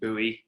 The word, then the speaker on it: Buoy: boy right boy well you could pronounce it different ways actually uh you know we've done american pronunciation buoy you know okay right